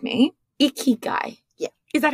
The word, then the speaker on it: ikigai: it wrong and you're going to correct me icky guy yeah is that how you say it yeah